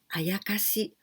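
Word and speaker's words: 妖: Do you know this word? Yokai? Yokai is Japanese folk monster or Japanese folk demon. These kanjis, yo, the first one, yo, we can also pronounce ayakashi or mononoke, and this means mystic.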